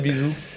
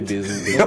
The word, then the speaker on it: Bézou: En fait, il y a des gens qui n'arrivent pas à prononcer Bézou.